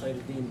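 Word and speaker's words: Kheireddine: It's pronounced Khairuddin, but in English it becomes CAIR-MI.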